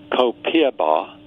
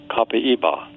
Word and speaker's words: copaiba: And while many Americans are pronouncing copiaba, the Brazilian pronunciation is copaiba.